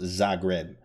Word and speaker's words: Zagreb: Oh, it's pronounced Zagreb. Thank you for that, Phoenix. Thank you for that. That's actually history I didn't know. Because I do play the Zagreb variation, actually.